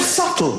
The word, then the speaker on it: subtle: The word subtle. Would anybody object if it was spelled s u t l e? Not a single person would.